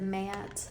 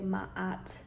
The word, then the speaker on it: Ma'at: oh by the way I I pronounce it Matt some say ma'at you can pronounce it however you feel most comfortable either way matte or ma'at is Justice Lady Justice